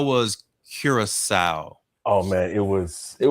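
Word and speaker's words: Curaçao: know how did Duracell it's the C with the little thing underneath it I didn't pay attention to the accent I don't even know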